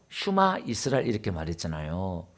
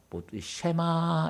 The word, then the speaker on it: 슈마: 그래서 오늘 제가 슈마 이스라엘 이렇게 말했잖아요. 그러니까 우리가 지금 보통 이제 목사님들이나 쉐마 이렇게 수에서 에 붙여가지고 쉐마 이스라엘 이렇게 해요. 근데 이제 원래 이스라엘 백성들은 세마보다 슈마 이 발음이 더 가까워요.